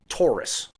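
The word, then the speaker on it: Tauer: not to butcher it holler holler Tower t a u e r Taurus like the Ford car um they are an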